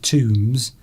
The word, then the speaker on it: tomb: And that actually brings to mind talking of tombs, that would be Tino MVS, wouldn't it, tomb. Yes. The B is silent spelling on that rather than the way that you've done it there.